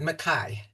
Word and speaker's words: Mackay: So that is my title and uh I'm not I think he pronounces it mai. Um but I've I've heard it both ways but I think it's Mai.